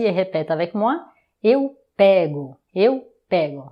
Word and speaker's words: pego: Eu pego. Eu pego. Attention, l'avant-dernière syllabe, c'est la syllabe forte.